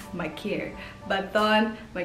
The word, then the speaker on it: Maker: then you definitely know that maker name has been butchered because it's thon makir as the south sudanese i know that name is pronounced as my care but on my mccare is a professional basketball